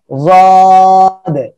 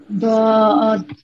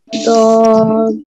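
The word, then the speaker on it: ض: এর উপরে একটা নুক্তা হবে তখন সেটা হবে জাদ, ঠিক আছে? ওকে, আপনারা সবাই এই অক্ষরটা উচ্চারণ করেন, এই অক্ষরটা কি অক্ষর বলেন তো? সাদ। মাশাআল্লাহ, এরপরে সবাই একসাথে বলবেন এই অক্ষরটা কি অক্ষর? দাদ। দাদ, মাশাআল্লাহ।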